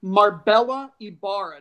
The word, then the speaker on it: Marbella Ibarra: think her name is Marbella Ibarra. Does it sound like I'm saying that right? Yeah, that's how I would have pronounced it.